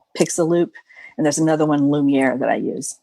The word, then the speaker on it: Lumiere: And there's another one, Lumiere, that I use. I pronounce it like the character in Beauty and the Beast.